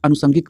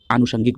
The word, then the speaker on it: आनुषंगिक: जैसे अगर हम इस प्रकार के देख लें, जैसे बहुत लोग अनुषंगिक बोलते हैं, वो गलत प्रोनाउंसिएशन है। होता क्या है कि जब हम व्यवहारिक तौर पर जब शब्दों का इस्तेमाल करते हैं तो उसका प्रोनाउंसिएशन अर्थात उच्चारण गलत करते हैं, इसलिए कई बार हम उसको गलत लिख भी देते हैं। क्लियर? तो यहाँ पर आप ध्यान रखेंगे, जब भी आप बोलेंगे तो आप आनुषंगिक बोलेंगे। क्लियर?